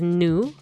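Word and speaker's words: nu: So the next one is new. Like, you know, new rock, new music.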